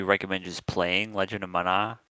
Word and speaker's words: Mana: I would probably recommend just playing Legend of Mana. Like, Yeah. it's kind of a good game. Kind of a highly beloved game. So probably just play that instead. Yeah. Dark? It's pronounced mana. Okay. It's Mana actually.